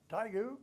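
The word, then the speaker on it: Taegu: amount of time and then i went to tygoo i think it was right i don't know if i was pronouncing that right yeah taigo yeah yeah yeah well yeah i went to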